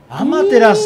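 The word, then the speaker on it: アマテラス: たアマテラスと、アマテラスって読むのね、は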